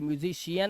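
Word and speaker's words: musician: अपने शियन हो गया ये सियन नहीं है ये कियन नहीं है ये म्यूजिशियन है यहां पे शा लगा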